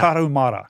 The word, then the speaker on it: Tarahumara: Tarahumara.